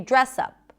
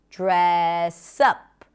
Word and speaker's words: dress up: And notice that when we pronounce the phrasal verb, the stress is usually on the second part of the phrasal verb on the particle. In this case, the word up. Dress up. We don't say dress up.